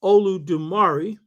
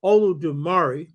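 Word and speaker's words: Olodumare: therefore describe the Yoruba god, who is called Olu Dumari, and I'll get into this in a minute, which is spelled O-L-U-D-U-M-A-R-E. O-L-U-D-U-M-A-R-E. So God, who is among the Yoruba called Olu Dumari, because God has assistants, the way an Oba has councils.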